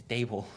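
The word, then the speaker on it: Daboll: Imagine what he's going to do in Brian Debal's Haramball system. Bro, it's Dable.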